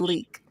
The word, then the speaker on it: lich: a it's pronounced leak leak i'm pretty sure